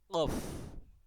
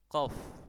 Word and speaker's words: qaf: Mohon maaf ucapan salah ya, contoh salah jangan ditiru, yaitu qaf, qo, qo, qo, qu, qu, qu, qi, qi, qi. Lah itu ucapan pelafalan yang kurang tepat. Ya. Nah, yang tepat insyaallah adalah qaf ya. Qo, qo, qo, qu, qu, qi, qi. Begitu kurang lebih untuk catatan huruf qaf.